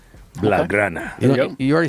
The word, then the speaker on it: Blaugrana: I'm working on the pronunciation. Blaugrana.